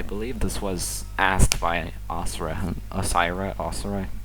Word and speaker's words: Osirrah: I believe this was asked by Osirrah. How do you want me to pronounce it? Yeah, it's Osirrah.